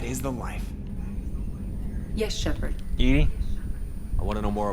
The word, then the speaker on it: EDI: Why are you named Your Edie? name. EDI is the phonetic pronunciation of EDI.